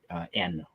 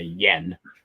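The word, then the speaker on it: 円: the Japanese symbol for n or we say Yen but they pronounce it n and my pronunciation is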